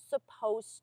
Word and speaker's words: supposed: Rea that's perfect it's supposed to be cloudy and notice that it's we have it is as a contraction it's suppose there's an ed on the spelling but you don't hear it in pronunciation it's supposed to be